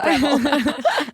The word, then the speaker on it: Breville: I don't know if I'm pronouncing it right. Breville. The Breville. No, it's Breville.